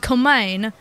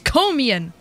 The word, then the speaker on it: Komian: Like the 3 or so years I've been a fan of this series, and I've been calling it Komain because I didn't know how to pronounce it. It's Komian.